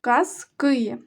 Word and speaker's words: казки: немає казки цікаві казки коли ми говоримо про однину про один предмет то наголошений перший склад казка казки А коли говоримо що багато то наголос падає на другий склад казки книжка не маю чого